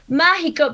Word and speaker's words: mágico: Yes, in Spanish it's mágico. Mágico. So kind of like the Spanish for Mexico, but ma instead of me.